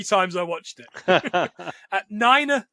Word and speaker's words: niner: i watched it at niner the pronunciation of the number nine in the nato phonetic alphabet excellent i i just